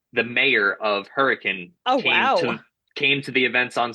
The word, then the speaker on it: Hurricane: It's spelled Hurricane. It's pronounced Hurricane.